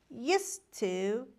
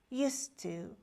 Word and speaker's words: used to: We say used to with D. We again say used to without D, because actually D is a consonant sound and we don't pronounce it, especially when it is at the end.